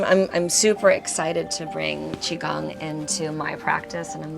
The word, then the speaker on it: Qigong: Don't try to sound it out. It's the hardest part of Qigong is just learning how to say it. It's not Qigao, it's Qigong.